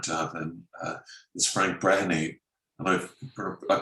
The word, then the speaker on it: Brehany: Is Frank Brehany, and I pronounced that right.